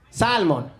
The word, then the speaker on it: salmon: please pronounce this word salmon we're gonna have to deport you sir there's an l in there you have to pretend it's not there that's the american way